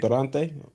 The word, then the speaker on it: Durante: Did I say it correctly? Durante? Yeah, Durante. Yeah. All right, that's cool, correct. cool. That's correct.